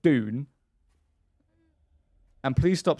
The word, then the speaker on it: Dune: It's a D, not a J.